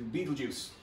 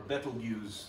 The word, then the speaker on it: Betelgeuse: So heading back home, almost home, to Beetlejuice, or Betelgeuse, however you want to pronounce that.